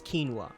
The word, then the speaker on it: quinoa: commonly pronounced one is quinoa.